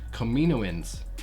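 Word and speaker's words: Kaminoans: were were the comedian's kamini wins yes that's how I think that's how you say it Kamino wins yes that's that's how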